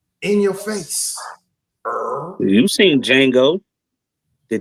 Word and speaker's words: Django: You seen Django. The D Okay. is silent.